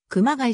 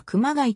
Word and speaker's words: 熊谷: られる頻度も高い桑谷の発音に関して主に平らな発音と間にアクセントをつける発音の 2 種類が混在しているこの件に対し 2019 年当時の富岡清市長は平らに発音するのは以前からの地元での寛容間にアクセントをつけるのは共通の敵現在の市民にはどちらも自然に受け入れられて